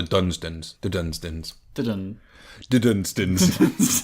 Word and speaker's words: Dunsdon: Is it Dunsden or Dunsdon, brothers? Dunsdons. It's spelled with an O. Dunsdons. Yes. But we would call that the Dunstons.